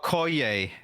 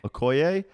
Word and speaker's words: Okoye: I don't know how to pronounce the character that you are, but Okoye. Okoye.